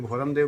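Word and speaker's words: Bhyram: किया है और उन्होंने उसको भैरम देव लिखा है बी एच वाई आर आर ए एम भैरम देव शायद जाहिर है ये भोरम का ही एक भैरम उच्चारण के कारण ब्रिटिश उच्चारण के कारण ऐसा हुआ होगा कनिंघम 188182 में इसको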